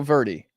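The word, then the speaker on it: Verdy: know about that but it's pronounced like birdie interesting so verie okay not verie verie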